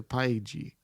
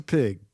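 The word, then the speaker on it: Pyg: Now, you wrote it down and you said Professor Paigi. No, that's just how it's that's how it's spelled in the comic books. I know. It's Professor Pig.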